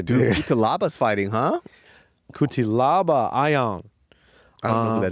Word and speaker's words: Ion: Because he's 2-0 in the UFC, so I'm talking about Ion, not this guy.